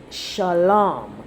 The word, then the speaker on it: shalam: word peace right and the word would be shalom shalom right with the a sound right um so phonetically it would be s h a w l a m that is the root